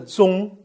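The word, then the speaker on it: 钟: one clocks in china a clock called zung by the chinese should never be given as a present since it has the same pronunciation as a death or number two gifts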